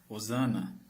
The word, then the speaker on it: hosana: Hosana. Nas bíblias atuais está escrito hosana com H. Porque no nosso idioma tem muitas palavras com H que nós não pronunciamos.